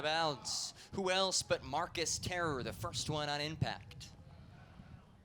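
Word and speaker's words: Tarrer: football name for a hard-hitting safety terror Marcus terror and it's spelled t AR AR ER but they pronounced a terror and he's brought the terror defensively for the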